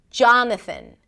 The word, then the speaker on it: Jonathan: Not an a sound, but just a really reduced sound. John and then thn. No vowel in the middle. Right. It's kind of like you want to bring the tongue out for the th and then pull it in really quickly for the n.